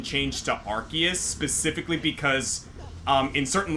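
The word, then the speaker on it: Arceus: So, one apparently like it used to be Arus, but they had to like make an official pronunciation change to Archus specifically because um in certain languages, Ars is not exactly a kosher word.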